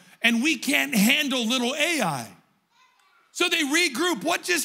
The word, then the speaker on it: Ai: The next little town in front of Jericho is called Ai. It's spelled AI, not artificial intelligence, but AI.